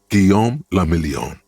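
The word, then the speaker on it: Guillaume Le Million: Gom lamelon. If it doesn't rhyme, you're not pronouncing it right.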